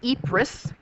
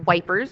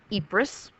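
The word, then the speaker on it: Ypres: is the Battle of epris uh we said how the British soldiers not really understanding how to pronounce this often called it wipers but you learn that it is called epris uh this is a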